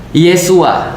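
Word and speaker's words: ישוע: Yesus itu bahasa Ibra bahasa Ibraninya adalah Yesua. Nah, Isuaah. Jadi Isua itu ya bahasa-bahasa Ibraniya. Kalau dalam bahasa Aramaik, bahasa Aram itu bacanya isu.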